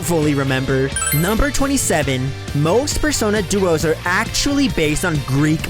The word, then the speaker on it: Persona Duo: one I just did the pronunciation for Phantom Idols personas is actually Persona Duo not Persona 2 number 29 on has